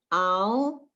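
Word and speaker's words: על: The first one is a baby word, al, because ayin is silent.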